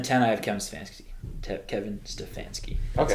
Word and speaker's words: Stefanski: Kevin Stefanski. That's how you pronounce his Former name.